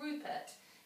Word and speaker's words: Rupert: Now then, if you've used your sounds really well, you should hear the oo sound. But in the word Rupert, it is spelled with a U. That part's a bit tricky.